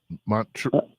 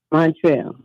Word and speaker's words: Montreal: Montreal is pronounced Montreal. Did you hear what she just said? We'll say it again. Montreal. Montreal, isn't it?